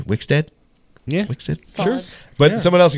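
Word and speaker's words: Wixted: last thing I mean wickstead is how I would say it's w-i-x-t-e-d wickstead yeah sure but someone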